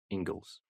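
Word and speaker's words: Inglis: of a lot of these things sir alexander ingles is spell ing l i s i believe but pronounced ingles and this is he's not writing this critically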